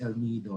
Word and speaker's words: El Nido: do you say that oh it's okay it's el nido and so so forth okay there will be